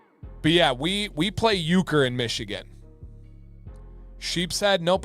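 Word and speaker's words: euchre: But uker, is that how you spell it? No, this is Yeah, not that way. I believe it's spelled like this. E U C H R E.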